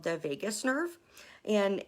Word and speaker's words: vagus: It's called the vagus nerve. And it's not like spelled like Las Vegas. It's VAGUS.